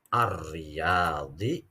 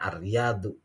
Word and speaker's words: الرياض: Ziaratun berkunjung, ila ke atau untuk, ar-riyadi, riyad. Sebenarnya kata apa bacanya ar-riyadu. Tapi berhubung di sini ada kata ila, maka di sini dimajrurkan. Majrur itu berarti dikasih harokat kasroh di sini.